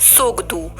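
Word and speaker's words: Tshogdu: Answer is सोगदू। तो यहाँ पे टी साइलेंट पढ़ते हैं हम इसे, तो सोगदू जो है भूटान की पार्लियामेंट का नाम है, और भूटान की कैपिटल है थिम्पू।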